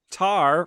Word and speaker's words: Tár: Oscar yep existential Rock tar rhymes with star if debah Carr had